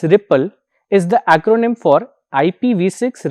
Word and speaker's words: RPL: iot is the RPL RPL pronounced as Ripple is the acronym for